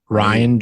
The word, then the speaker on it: Rian: Johnson what is it ryan johnson arranged brain knots and ryan Johnson I think it's actually pronounced Ryan but we need a